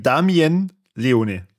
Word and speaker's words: Damien Leone: meiner seit her WST okay dann sage ich Damien Leone Damien okay wir wieder mein Gott oh Gott